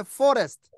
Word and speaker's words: forest: forest. 예, 뒤에 트는 거의 발음 안 합니다. 얘네들 forest 하시면 돼요. 예, forest. 트 발음하지 마세요.